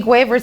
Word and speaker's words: Guevara: And Che Guevara's hair. How do you pronounce it?